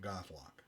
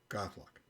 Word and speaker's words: Gaothloch: So we're calling it Goth-lock. So if you're looking for the pronunciation, Goth-lock. It's not at all how it sounds, but that's what we're going with because that's what we like, because it's a Celtic